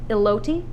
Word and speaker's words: elote: Is that how you pronounce that? Elote?